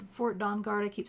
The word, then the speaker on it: Dawnguard: time for us to head down to the dungard fort dawnguard i keep saying it wrong and talk to